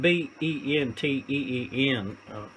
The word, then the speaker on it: Benteen: Will Benteen, it's spelled B-E-N-T-E-E-N. If Margaret Mitchell was alive, I would know. I think it's Benteen.